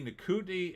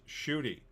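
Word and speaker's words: Ncuti: Ardent, apparently Nikutni is supposed to pronounce Shooty. Oh, it's Shooty?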